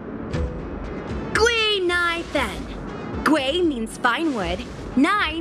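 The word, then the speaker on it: Guinaifen: But a Cienjo friend came up with an authentic Cienjo name based on the pronunciation. Gui-Nai-Fen.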